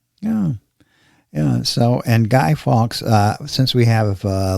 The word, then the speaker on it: Fawkes: many different uh countries uh I'd like to spell that last name it's f a w KES f a wkes sky Fox so Gary I think we can at this